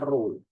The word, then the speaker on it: rho: Massa jenis itu simbolnya rho. Dibacanya rho.